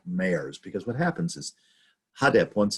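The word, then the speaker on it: HDP: how we pronounce it you take the initials and we say so the hada party uh came into being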